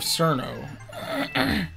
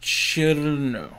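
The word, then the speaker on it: Cirno: From the school of Cerno. It's pronounced Chirno.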